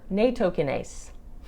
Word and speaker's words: Nattokinase: If you want to do more long-term, Nattokinase.